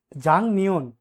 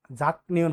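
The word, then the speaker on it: 작년: শুরু বলতেছে জনুন আমি, জাং নিয়ন, জাং নিয়ন তো গত বছর, এটা কিন্তু আপনার জাক হবে না, জাক নিয়ন হবে না, কিন্তু এটা আপনার সঠিক উচ্চারণ হবে জাং নিয়ন।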